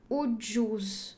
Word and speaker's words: ucuz: Sok, so now the C is pronounced like J, ucuz.